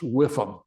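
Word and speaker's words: WIIFM: wondering and this is a sales acronym pronounced whiff them anybody got any idea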